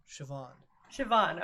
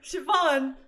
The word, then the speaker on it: Siobhan: Siobhan. Okay. Okay. Got it. Hi, Ren. I saw Siobhan and I panicked. I was like, why not? I'll just make it Sarah. But no, it's Siobhan now.